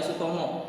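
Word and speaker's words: Soetomo: Kenapa Suetomo? Karena Sutomo dibacanya Sutomo, ya. Ini ejaan zaman dulu, Suetomo.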